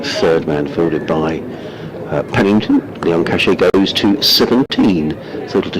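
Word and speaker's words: Lion-Cachet: He's going to be bowling to Zach Leon Cachet, we're now being told is the pronunciation.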